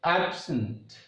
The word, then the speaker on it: absent: If a word is considered as a noun or adjective, then the stress mark goes on first syllable. When the same words plays as a role of verb, then the stress mark goes on second syllable.